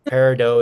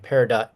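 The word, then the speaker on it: peridot: something about parido uh parido is announced both ways and is widely accepted internationally uh pero is a English European way of saying it and Perot is American and he's International G dealers will accept both pronunciation yeah Dennis because we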